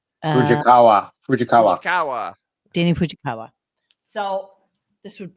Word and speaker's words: Fujikawa: Fujikawa.